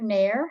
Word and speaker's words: Nair: a bit is nair have i pronounced that correctly close it's nire like fire i i think no